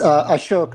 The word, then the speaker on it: Ashok: Yes, Ashok. The last syllable is like a tree. Like oak.